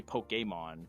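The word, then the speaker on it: Pokémon: pokemon for example yeah the e it's it's actually pokemon because the e has got an accent over the top of it but yeah like stuff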